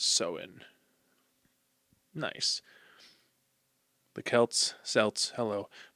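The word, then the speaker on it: Samhain: On the night before, October 31st, they celebrated the festival of Sam Hayne. Whoops. Pronounced sewen. Weird. Okay. It's It's spelled S A M H A I N, but it's pronounced Soen.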